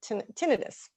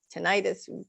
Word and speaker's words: tinnitus: sometimes it's even causing tinnitus tinnitus take your pick on how you want to pronounce it which is a ringing